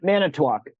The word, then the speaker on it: Manitowoc: You're going to have to help me pronounce the name of the county, John. Manitowoc.